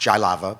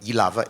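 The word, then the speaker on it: Jihlava: yava which is in not pronounced jaava but yava in in uh the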